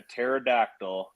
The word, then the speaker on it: pterodactyl: can't you hear a pterodactyl using the bathroom because the p is silent oh I i' I've